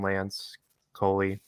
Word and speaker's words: Lance Coley: It's done by Jeff Little following Lance Coley. That's how he pronounces his name, right? Lance Coley. Yeah, Lance Coley.